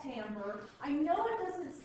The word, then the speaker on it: timbre: So we've worked our way all the way to something called timbre. I know it doesn't sound like you're supposed, it doesn't look like you're supposed to say it that way, but T-I-M-B-R-E is pronounced timbre.